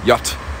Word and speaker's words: yacht: Oh yeah, you can literally spell it YT. Yacht.